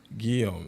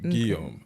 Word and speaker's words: Guillaume: Guillaume. That's actually how you pronounce it. Guillaume.